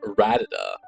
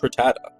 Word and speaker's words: Rattata: I called it though it was like ratada or some weird pronunciation you No, but it's rattata.